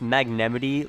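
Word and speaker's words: Magnemite: Haha, my Magnemity is better. Oh, yeah, so it's actually pronounced Magnemity, like Yosemite.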